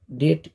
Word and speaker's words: det: অনেক বইয়ে ডিইটি মানে ডিইটি ডেট এও লেখে, কিন্তু এটারও উচ্চারণ ডেট এ।